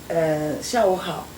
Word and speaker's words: 下午好: 下午好，下午好.